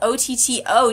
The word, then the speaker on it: Otto: Like, I mean, I don't like when people mispronounce my name, so, like, why would I want to And then he was like, yeah, it's Otto.